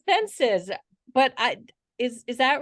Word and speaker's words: Csencsits: the last name is census you either ignore the C's or you ignore the s's whichever works for you oh okay well I